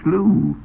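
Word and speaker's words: slough: It's pronounced slooh.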